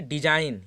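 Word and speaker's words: design: देखिए डिजाइन, यहाँ पर हमारा क्या है, जी साइलेंट है।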